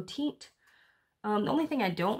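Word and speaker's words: Teint: It's T-E-I-N-T, so Tint.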